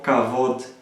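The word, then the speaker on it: kavod: estoy yo hebraico pero la pronunciación es un poco como cabot y trae por sí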